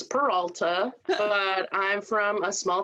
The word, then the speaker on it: Peralta: is peralta and if you can't say it in spanish it's peralta but i'm from a